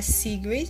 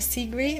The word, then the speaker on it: Sigrid: Hoje eu vou indicar a Sigrid, tipo, fala Sigrid, mas na verdade é Sigrid, que se escreve, né?